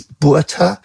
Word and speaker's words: Botha: Well, um, very few people are able to pronounce it correctly, so please don't worry. It's BHA, but I've heard many, many different versions and I've learned to answer to all of them.